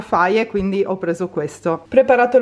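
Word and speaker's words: Fage: Non ho trovato quello della Faye, mi avete detto che si pronuncia Faye, quindi ho preso questo.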